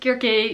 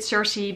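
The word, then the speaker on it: Circe: gurkey by Madeline Miller I pronounce it Kirk a some people pronounce it Cersei but whatever well just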